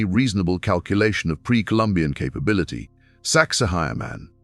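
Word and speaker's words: Sacsayhuamán: Saxahire man pronounced roughly sexy woman by tourists.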